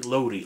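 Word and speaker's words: Lowri: Lowry. See, I know you can do it. See, Lowry. L-O-U-R-E. Lowry. Remember to roll the R.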